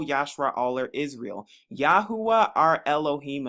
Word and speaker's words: Elohim: Aller Israel Yahweh our Elohim another way to pronounce Elohim is Alim is one and thou